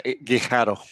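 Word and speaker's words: Guijarro: Patri Guardo, I think that's how you pronounce her name. Yeah, Gharo.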